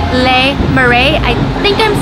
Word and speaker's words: Le Marais: my favorite bakeries in San Francisco it's called lei marae I think I'm saying it right actually it's pronounced la ma hey whoa amazing foods I'm going to show you